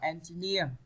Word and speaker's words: engineer: Còn câu D này các bạn đọc là engineer, engineer phần 3.